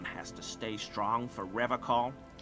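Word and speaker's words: Revachol: Unlike other people, you said Revol. I like to pronounce it the hard way. The old way. the Vesperine way.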